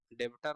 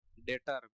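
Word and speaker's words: debtor: भाषा में बोले तो डेबिटर मत पढ़िएगा बार-बार बोल रहे हैं डेटर बी साइलेंट है यह साइलेंट है डेटर पैसा लेना है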